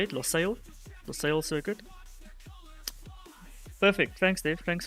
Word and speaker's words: Lusail: We are racing in Qatar tonight at the Lusail Circuit. I think it's how you say it, Lusail Circuit.